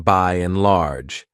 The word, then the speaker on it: by and large: That's because she used the linking ya to join by and in by and large. She also elided or didn't pronounce the D in and she did this in order to join it smoothly to the next word.